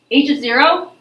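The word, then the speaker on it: h₀: H of 0 that's how you say it when it has that subscript, that little 0 written down below the h.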